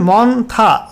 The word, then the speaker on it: মন্থা: সাবজেক্টে বলা হয়েছে severe cyclonic Sturm মন্থা, pronunciation মন্থা over West central বে অফ বেঙ্গল।